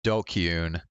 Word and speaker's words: DQN: can we okay what is a dqn pronounced dokun a thug bully or